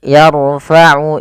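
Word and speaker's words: يَرْفَعُ: Kemudian pada lafal yarfa'u Ibrahimu, tebalkan huruf ra-nya karena huruf ra sukun didahului fathah itu adalah kondisi ya salah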